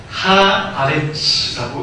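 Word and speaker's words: הארץ: 노란색으로 되어져 있는 부분이 하아레츠라고 읽는데요.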